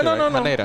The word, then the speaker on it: Haneda: Don't tell me I'm mispronouncing that one. No. Haneda.